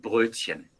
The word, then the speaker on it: Brötchen: Vamos a hablar en Brötchen, ok.